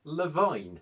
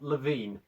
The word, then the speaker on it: Levine: levine's name well i'll be damned it's actually pronounced levine not levine would you kindly forget that i've been mispronouncing